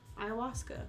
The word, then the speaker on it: ayahuasca: So, Ayahuasca? Is that how you say it? Ayahuasca.